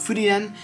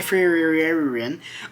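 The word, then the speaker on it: Frieren: uh Beyond Journey's End I learned that is how you pronounce it Fen uh I still am going to say frein um by Kito Yamada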